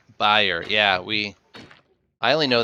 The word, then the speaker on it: Bayer: guys say it like buyer correct like an e sound buyer Bayer we use the a in the middle it's buyer yeah we I only